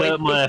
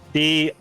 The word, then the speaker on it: Dirtmire: Biscuit came to me in one of my streams and said, I've named your town, and you'll never be able to guess how it's pronounced based on how it's spelled.